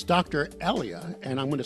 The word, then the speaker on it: Elia: back from anyone any listeners well it's Dr ellia and I'm going to spell that for those who may not know Elia Dr ellia uh associate professor at Townson University and